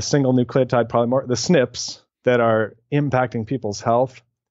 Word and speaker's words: SNP: called single nucleotide polymorphisms which are abbreviated snip like SNP we just pronounced it's snip and those snips are